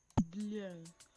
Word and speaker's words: bleu: The next color we have is bleu, bleu, bleu, which is blue, blue, blue. It's it's almost pronounced the same way, but not pronounced the same way.